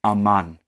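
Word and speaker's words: אמן: In Hebrew, it is aman. That's how you say it.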